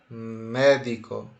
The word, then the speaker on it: médico: aguda esdrújula ou sobreesdrújula separa as sílabas escrevo cega de trás para frente caiu em cima do E então eu vou dizer que médico é uma palavra esdrújula e por fim nós